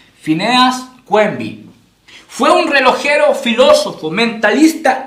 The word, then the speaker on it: Phineas Quimby: Por si acaso se escribe Phineas Quimby, ¿ya? Pero se pronuncia Phineas Quimby.